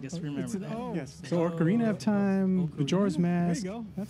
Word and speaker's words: Ocarina: I never knew how you say it. Oregano of Time. Organa? It's an O. Ocarina? There you go. That sounds kind of like it. Ocarina. It's Ocarina of Time.